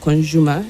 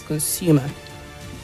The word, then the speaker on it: consumer: That word is not consumer, it is consumer. Consumer.